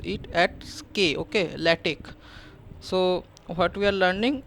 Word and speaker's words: LaTeX: format so so when you pronounce this okay l a t e x okay don't pronounce it as latex it is not latex it is called lattic this x you pronounce it at SK okay ltic so what we are learning we are learning